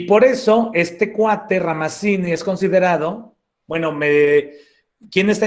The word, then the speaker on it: Ramazzini: Como Ramazzini. una X. ¿Cuál X? Como T, como pizza. Una T con una Z, Ramazzini.